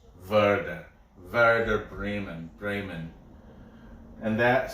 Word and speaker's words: Werder: But I know W's are pronounced V. Werder.